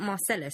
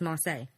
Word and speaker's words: Marseille: by the way Chris I think it's not Marcellus it's Marseille what rock city is